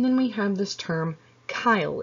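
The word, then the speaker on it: chyle: we have this term kyle it is pronounced kyle uh that is going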